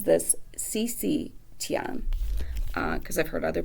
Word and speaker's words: Xixi Tian: place is still beautiful and the author she pronounces this CeCe Tian because I've heard other pronunciations for that first